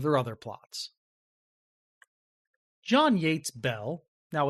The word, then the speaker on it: Beall: other plots John Yates Bell now it's spelled be b a l l but pronounced Bell for some reason John Yates Bell was born on January